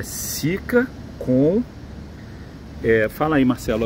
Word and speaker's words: Sika: Lembrando que cica se escreve S-I-K-A. Tem gente escrevendo sica de tudo quanto é jeito. É sica.